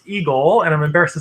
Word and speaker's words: EGLE: uh which is pronounced eagle and i'm embarrassed to say took me a little while to figure out that the egle is pronounced eagle uh but it was